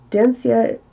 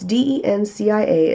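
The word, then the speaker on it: Dencia: obsession with lighter skin dense yet and I know I'm saying it wrong guys I know it's de NCIA as a Nigerian pop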